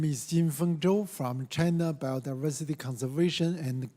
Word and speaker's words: Jinfeng Zhou: Zhou Jinfeng, if I pronounce it right. My name is Jinfeng Zhou from China Biodiversity Conservation and Green Development.